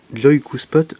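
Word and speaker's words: Joikuspot: Et si jamais il a un smartphone Nokia, il va sur le Store et il tape Joy-Q-Spot Lite. Donc Joy-Q-Spot qui s'écrit J-O-I-K-U-S-P-O-T.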